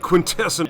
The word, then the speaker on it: Quintesson: So at that point, I was like, you know, these videos get like 300 views each. It's not a big deal. Who cares? So I just let him pronounce it Quintesson.